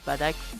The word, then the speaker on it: Bardock: Parce que je sais qu'il n'y a pas tout le monde qui prononce la japonaise, Badak, moi. Pas tout le monde... Enfin, pas tout le monde prononce la japonaise, excusez-moi, c'est la vraie prononciation, hein.